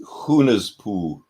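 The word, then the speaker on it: Hunahpu: It's pronounced Hunaspu.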